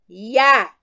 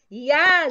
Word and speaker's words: Yah: todos os estudiosos que a sua pronúncia é Yah, tá? Yah, gente, não tem dúvida que é Yah, tá? Yah, Y-A-H.